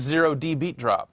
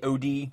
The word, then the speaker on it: 0D Beat Drop: playing Jee this is zero D beat drop is that how you say it you don't say OD no idea it is clearly a zero yeah it's too tall